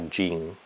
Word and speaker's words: Jing: Ora la medicina cinese ti dice che questa si chiama Jing. In cinese, Jing è scritto, ma si pronuncia Jin, come in arabo si pronuncia il genio della lampada.